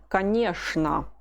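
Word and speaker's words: конечно: say sure in russian there is a letter in this word that we do not pronounce the way it is pronounced in the alphabet it's the letter cheer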